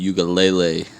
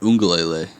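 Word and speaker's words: Uiagalelei: Freshman quarterback DJ Ugalele, I think that's how you pronounce it. Ungalele. Is that how you pronounce it? Yeah, there's an N in there, I think.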